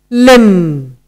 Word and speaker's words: limb: Our next word is limb.